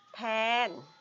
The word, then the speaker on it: tan: เขต นี้ ก็ คือ แทน ก็ คือ แทน และ ก็ คือ แทน เนาะ ไม่ ได้ อ่าน ว่า ตาล นั้น นัก เรียน จะ ไป อ่าน ตาล นะ บาง คน ไป